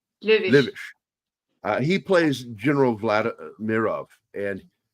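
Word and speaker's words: Löwitsch: Lovish. Löwisch.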